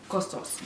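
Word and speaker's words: Kostos: grandma grandma not yaya costos not costa his name is costos in the books everybody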